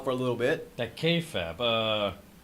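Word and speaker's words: kayfabe: the k-fab of course you know and k-fab yeah like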